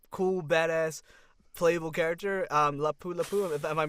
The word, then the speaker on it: Lapu Lapu: Um, Lapu Lapu. Am I pronouncing that correctly? Yeah, Lapu Lapu is it it's insane, man.